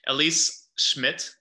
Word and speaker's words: Elise Schmitt: conversation here today um elise schmidt thank you so much for and i pronounced your name correctly right you did yeah perfect awesome so elise schmidt